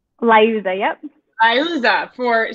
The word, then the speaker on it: Liuzza: Am I pronouncing that correctly? Liuzza, yep.